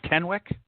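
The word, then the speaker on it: Tenwek: Is it Tenwick? Yes. Tenwick Hospital.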